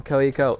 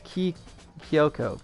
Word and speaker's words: Kyoko: I keep saying Koiko. It's Kyoko. That's how you pronounce it.